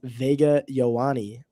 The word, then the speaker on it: Ioane: I think it's Vega Ioane.